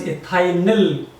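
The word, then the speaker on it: ethyl: ए हटाने के बाद ग्रुप बचेगा इट is pronounced S इथाइल इथाइल अब यहां पर देखिए यह है प्रोपा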